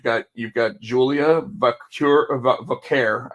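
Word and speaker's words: Vaquer: you've got Julia vure Vare I guess is how they're pronouncing Vare and then you got Cory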